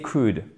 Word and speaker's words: could: Utilisez could. Et vous ne prononcez pas le L, bien évidemment.